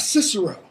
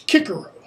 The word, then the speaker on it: Cicero: it's the celtics always it's not cicero it's kicaro it's not caesar it's keyser it's actually kaisar as in german the kaiser it's almost the exact